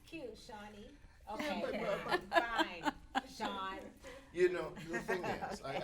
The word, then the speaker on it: Chawne: But see, I say Shawnee like, I know the E is silent. I just think it's cute, Shawnee. Okay, fine, Chawne.